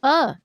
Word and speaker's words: pho: I just heard that is the proper pronunciation. Is it called pho or pho?